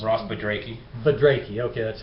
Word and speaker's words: Budrakey: I'm with Ross, whose last name it's hard for me to pronounce. Ross Budrakey. Budrakey, okay, that's how you do it.